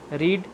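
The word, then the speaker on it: read: Second form, third form, लेकिन इसकी pronunciation change हो जाती है। रीड, रेड, रेड, तो इसकी प्रोनाउंसिएशन चेंज हो जाती है, लेकिन इसकी स्पेलिंग सेम रहती है तीनों फॉर्म्स में।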